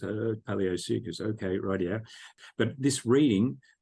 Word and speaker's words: Paleosuchus: And when you're a kid, you see these names, you have no idea of the pronunciation. So here I am, Paleosuchus, so it was Paleosuchus for years and years and years, one of the dwarf caimans.